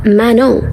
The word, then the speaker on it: Manon: None from Cats Eyes name is actually pronounced Manon.